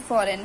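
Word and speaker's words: foreign: letter है ऐसे ही फॉरेन फॉरेन में भी हमारा जी साइलेंट है सिंग में भी साइलेंट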